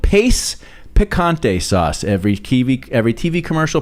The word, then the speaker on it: Pace: Dad referred to it as pache. He instead of just the simple pronunciation that it was, Dad couldn't accept that it was just that simple. No. It was pache.